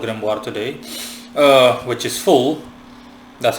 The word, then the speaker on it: Phul: today uh which is full that's how I'll be pronouncing his name fool p h u l spelled and pronounced either full or Phil in any case I'm